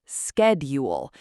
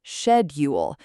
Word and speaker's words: schedule: Americans say schedule. British say shedule. Both are correct.